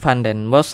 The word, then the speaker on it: Van Den Bos: dengan pengucapannya seperti ini jadi pengucapan Fen BOS adalah Pan dan bos nah seperti itu jadi